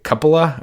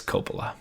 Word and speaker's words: Coppola: look it up in like Britain they say cupola or cup Coppola but it's Coppola it's good boy yeah yeah I said Kim